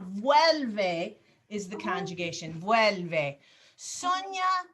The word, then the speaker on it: vuelve: You're just uncertain about pronunciation. Vuelve is the conjugation.